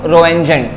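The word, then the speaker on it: Röntgen: इसको डिस्कवर किया था जिनका नाम था डब्ल्यू रोजन ठीक है टी यहां पर साइलेंट है इनका नाम है डब्लू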